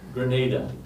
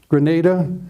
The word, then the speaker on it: Granada: corner of the state Grenada Grenada yeah well well I think of a grenade or something you throw but I'm using the Spanish pronunciation Grenada or Granada tomato tomato